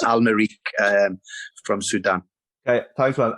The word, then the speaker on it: Al-Merrikh: Al-Merrikh. Lee Clark. Hi, Anthony. It's Al-Merrikh, but I'll let you off because I got the pronunciation wrong when I first got there. But it's Al-Merrikh from Sudan.